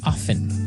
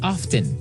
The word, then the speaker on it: often: Now with pronunciation, some people like to pronounce often, right? They kind of leave out the strong t sound while other people say often.